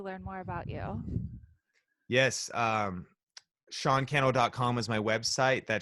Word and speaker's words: Sean Cannell: more about you yes Sean kennel comm is my website that Sean kennel rhymes with YouTube channel and yeah and that's